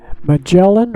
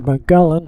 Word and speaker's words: Magellan: there and then um mellan or Mullan however you like to pronounce it I used to I learned it was mellin but I've heard a few people call it Mullan and uh he was